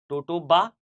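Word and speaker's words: totoaba: जिसे कहा जाता है टोटोआबा टोटो बा या कई बार टोटो आबा अब इंग्लिश में स्पेलिंग यही है आप हिंदी में देख लीजिए आप टोटो बा कहना चाहेंगे टोटो आबा कहना चाहेंगे यह जो मछली है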